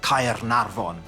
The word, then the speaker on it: Caernarfon: So if you think of the name Caernarfon, what's important there is you pronounce every letter.